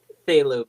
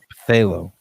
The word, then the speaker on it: phthalo: blue i'm just saying phthalo blue the p is silent phthalo i will not let